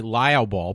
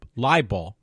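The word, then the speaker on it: libel: you say it liall I keep want to say liab Ball but it's no a ball it's Li liall so she got basically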